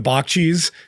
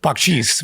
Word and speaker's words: Bakchis: You kind of just like flowed with the Bakchis, and now I've noticed when you're saying it, you're like Bakchis, which I believe is, I would hope, is the correct pronunciation of it. Yeah, it is.